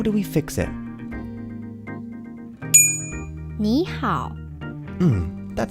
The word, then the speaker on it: 你好: 你好 That would sound very strange to a native speaker. So, how do we fix it? 你好 That sounds better.